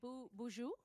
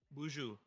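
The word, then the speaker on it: boozhoo: Bju. Bju. Bju sounds like bougie.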